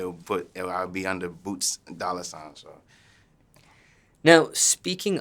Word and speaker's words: Boot$: now what is the correct way to pronounce your stage name uh boots says b o o t Doan it's like